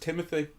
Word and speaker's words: Timothée: I think his name is pronounced Timothy, despite the way it's spelled.